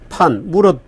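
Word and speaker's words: 凡: 병입니다이이 선 션판 판이라고는 판 무자에 성은 뭐 감니다 우리 청송심 할 때 그 심청 할 때 심의 범 무릇 범을 쓰는데 중국 발음을 판이라고 하는 모양입니다이 판이라고 하는 사람의 개인적인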